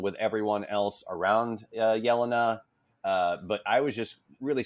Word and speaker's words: Yelena: I'm talking about we say Yelena, but it's Yelena. I'm assuming. Yes, correct. I went with Yelena.